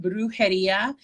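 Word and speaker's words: Brujería: um i have an etsy store um it's pronounced brujeria bags um and uh it's b-r-u-j-e-r-i-a bags and i have an etsy store i am also here on instagram um brujidia bags and um i will announce like what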